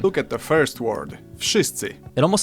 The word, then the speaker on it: wszyscy: Okay, let's have a look at the first word, wszyscy. I've heard people say it. Hold on, let's hear him say that again. Look at the first word, wszyscy.